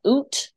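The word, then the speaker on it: Eut: kind of sounds, there's this Dutch band called Oot, which is spelled E-U-T.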